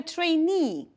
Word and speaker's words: trainee: Okay, the next one, a trainee. Mind please the pronunciation and the stress. Trainee.